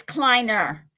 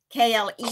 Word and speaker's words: Kleiner: It's Kleiner, K-L-E-I-N-E-R. Kleiner. Yes.